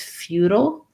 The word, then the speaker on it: futile: It's feudal, which is more like feudal, which is where we would use more of a flap T here, and we would reduce that ile into an ul sound, feudal.